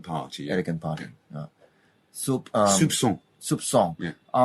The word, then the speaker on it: soupçon: How to pronounce this? With a S, let's say like an S. Sir. Like an S. This is called a cedilla, actually. Cedilla, yeah. Soupçon. Actually, it's something like S.